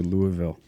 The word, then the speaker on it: Louisville: I love how you say it too, Louisville. Yeah. That's the right way to do it, right? You get like molasses with it. That's right. Just spilling out your mouth.